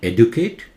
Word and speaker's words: educate: It's not educate, educate. Edu, louder. Kate. Educate.